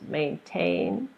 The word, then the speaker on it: maintain: something like B so we have maintain there's two syllables maintain is a verb that means to keep something the way it is maintain maintain and